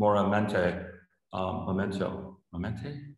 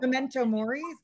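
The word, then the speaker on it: memento mori: sort of a veritas for you know a moramente memento i don't know how do you say it uh how do you somebody tell me how you say that um what memento murray yeah momentum yeah exactly uh and uh and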